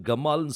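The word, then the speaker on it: גמל: தான் இந்த கிம்மல் இந்த இந்த கிம்மல் என்கிற இந்த உச்சரிப்பு இது ஏன்சியன் ஹீப்ல நீங்க பார்த்தீங்கன்னா அது கிம்மல் கிடையாது கமால்னு சொல்லுவாங்க கமால் அப்படின்னா ஒட்டகம் சோ இந்த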